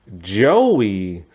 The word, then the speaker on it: Joey: That's why I had to stop cuz I keep saying it with a Z and not a J. Joey.